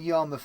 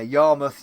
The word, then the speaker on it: Yarmouth: Well done pronouncing Yarmouth in the way you did, Novabug. Your mouth, yeah. Joke avoiding that, yeah. Yarmouth, your mouth, yeah.